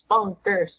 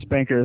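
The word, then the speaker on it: Spnkr: why I believe it's spunker, and I'm gonna do this really quick. Take the word spunker, S-P-N-K-R, and pronounce it singular, spunker. You get spunker. That's why I believe it's spunker.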